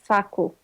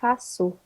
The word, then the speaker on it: faço: If it didn't have that thing on the bottom, you would pronounce it facu. But Okay. because it has that little thing on the bottom, you pronounce it faço. Okay. So instead of que, you pronounce it se.